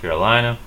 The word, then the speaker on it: Carolina: Carolina. I'm from South Carolina. In English, we stress the lie. I'm from South Carolina. In Spanish, they actually stress the same syllable, though it sounds differently.